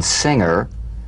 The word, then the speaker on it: singer: For instance, this is the difference between the soft G in singer and the hard G in anger. Right? Mhm. For instance, a singer sings, but an anger doesn't an, right? So, the at the end of that word is meaningless in terms of the whole word. That has a hard g.